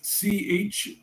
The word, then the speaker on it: chthonic: Which one of these is not a chthonic deity? I believe I'm pronouncing it correctly. If I'm not, it's C-H-T-H-O-N-I-C, chthonic.